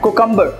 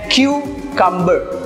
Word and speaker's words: cucumber: यस, मैंने बहुत सारे लोगों को देखा है इसको प्रोनाउंस करते हैं कुकम्बर. नो, इसका सही प्रोनाउंसिएशन है क्यूकम्बर.